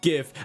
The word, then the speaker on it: GIF: No, it's not pronounced YIF, mate.